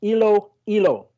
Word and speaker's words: Iloilo: close to saying it correctly well it is pronounced as ilo hilo yes it is located in the western part